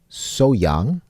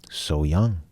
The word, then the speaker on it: Sohyang: lets us know that when it's pronounced fast the H is left out a lot of times like so young so